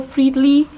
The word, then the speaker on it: Friedli: I am here with one of my favorite friends, Heather Friedli. Is that correct? That is Have I correct.